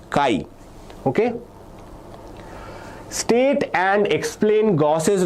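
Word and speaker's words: chi: The pronunciation for this is Kai.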